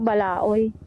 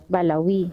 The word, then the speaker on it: Balawi: Akala ko Balaoy. Ah. Oo. Kaya nga eh, Balawi. Balawi, hindi siya Balawi.